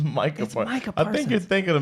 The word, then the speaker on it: Micah Parsons: It's Micah Parsons.